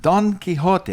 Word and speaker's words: Quixote: idea in don quixot don quixote and i don't say it like a spaniard don quixote and uh you know